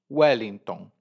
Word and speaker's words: Wellington: Então, para um brasileiro, Wellington se escreve exatamente como se fala. U-E-L-I-N-T-O-M, ou N, Wellington.